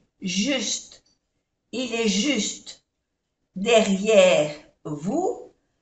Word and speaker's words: vous: Il est juste derrière vous. En francés, para que la U, que se dice U, suene U, tiene que tener una O delante, vous, y no se pronuncia la S.